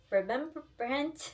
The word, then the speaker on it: Rembrandt: same time in the 1600s, how do you pronounce it? Remembrance, or yeah, Rembrandt.